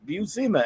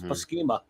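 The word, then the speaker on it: Buscema: he calls him and he goes that's beauzeema as in that's how i learned to pronounce the visemes names because of this comic book i always thought it was paskema and of course just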